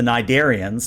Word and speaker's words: Nidarian: the good news is that since you succeeded so well, what's going to happen is the Nidarians, and I looked it up, it's pronounced Nidarian according to Memory Alpha.